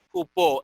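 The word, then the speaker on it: ὑπό: Jupó, es jupó, pero el verbo es sozo, ¿ok?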